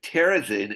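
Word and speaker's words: Terezín: me for that um and then terzin is the check name for the town and I often will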